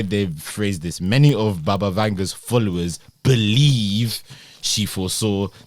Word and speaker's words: Baba Vanga: Okay, what are Baba Vega's most famous predictions? Many of Baba Vega's, I think we even saying her name wrong. Baba Vanga's followers my bad.